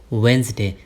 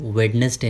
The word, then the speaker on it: Wednesday: वेंसडे। ध्यान देना कभी भी आप वेडनेसडे नहीं बोलो, वेंसडे बोलना।